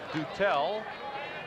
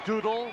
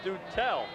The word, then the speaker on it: Dutel: Pronounced Dutel, as checked out by Rick Wolf. Behind the batting cage, we've heard Doodle, Dutil, Dutel. I said, Mike, what's it going to be? He said, it's Dutel.